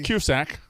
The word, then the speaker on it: Cusack: Cusack. Smitty, you say it wrong, and Ev, you just said it wrong. What I said, John? Cusack?